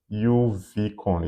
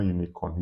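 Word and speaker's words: uvicorn: Yeah, I think it was it was pretty uni I don't really know what the name was, but it's supposed to be UV uvon. Yeah. Not unicorn. Uvon.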